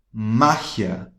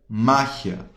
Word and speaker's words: magia: Magia, só que a pronúncia é totalmente diferente. Magia, magia, mágia. Tá percebendo a diferença? Magia, mágia.